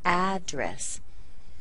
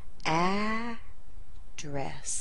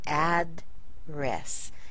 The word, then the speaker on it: address: Now the second syllable, this is the same pronunciation as the article of clothing. Dress, dress, address.